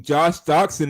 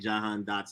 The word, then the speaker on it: Jahan Dotson: I mean, Josh Doxson is going to single-handedly get the receiving yard trophy.